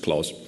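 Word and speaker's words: Clos: in this talk, that I think his name is pronounced clause.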